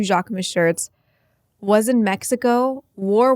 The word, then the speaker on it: Jacquemus: Jacquemus. Am I saying it right? Jacquemus.